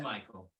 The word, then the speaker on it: Mychael: I'm just like filling the air now while it's pronounced Michael, right? He does his video thing. Yes, but Michael.